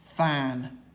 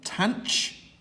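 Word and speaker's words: tanh: Just in the same way as tan is sine over cos, we have this function here, which is either pronounced than or tanch, so it's than or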